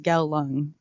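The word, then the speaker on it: Kowloon: I was searching it on YouTube and it's pronounced as gal lung yeah trivia if ever you want to go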